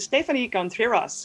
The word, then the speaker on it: Stefanie Contreras: publishing usa and today we have with us stephanie contreras and i really hope that i pronounced this the right way you did you